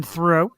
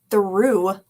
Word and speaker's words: Theroux: Jewel came out with Justin Theroux. Is that right now? Theroux? Well, now it's Theroux.